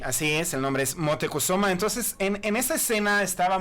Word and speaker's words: Motecuhzoma: barras como lo pronuncia esto moctezuma así se pronuncia es motecuhzoma eso es un hombre verdadero moctezuma es una